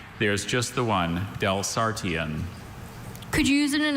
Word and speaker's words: Delsartian: Are there any alternate pronunciations? There's just the one, Delsartian.